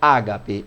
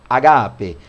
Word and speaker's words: ágape: E ele usa a palavra ágape, ou a quem pronuncia agape. Agape ou ágape, como é muito comum entre nós aqui pronunciar.